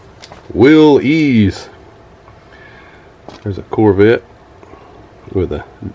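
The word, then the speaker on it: Willys: was cool there's a willis willy's don't want to get corrected say willis they'll say no it's pronounced will ease there's a corvette with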